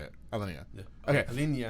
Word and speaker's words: Alinea: Alinea. Yeah. Okay. Alinea.